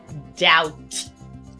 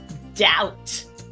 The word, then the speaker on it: doubt: go to the word doubt doubt do you hear a b anywhere in that word I don't but it's there again be sure that